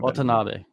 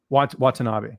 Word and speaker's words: Watanabe: How do you pronounce her last name? I want to ask you. You probably know. Watanabe. Watanabe.